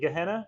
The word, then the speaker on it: Gehenna: Also coming out tomorrow, I've really enjoyed this book called I still haven't figured out how to pronounce it, by the way. Gehenna? Yeah, Gehenna. Is it Gehenna?